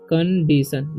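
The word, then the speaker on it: condition: और DITION से कंडीशन, देखो DI से डी, कंडीशन, TION जब भी TIO रहता है तो उसका उच्चारण सो हो जाता है, तो कंडीशन, TION से शन, तो कंडीशन, ठीक है।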